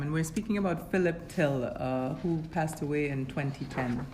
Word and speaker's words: Thill: your content so today we're speaking with till she just clarified how her last name is pronounced originally I heard it's from Belgium your